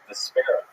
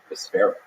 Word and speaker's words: Vespera: Vespera. Vesper with an A at the end. Wow, the Spare. Vespera.